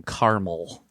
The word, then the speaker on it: caramel: you spell it yeah c-a-r-a-m-e-l ah caramel caramel caramel i say caramel i say caramel now but i grew up saying carmel i will say that